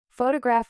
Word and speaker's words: photograph: Photograph with stress on foe.